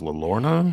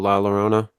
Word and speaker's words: La Llorona: though I think you know the legend of La Lorna I think it's how you say it no The Crying woman Oh la Llorona yeah I don't know whatever it is raised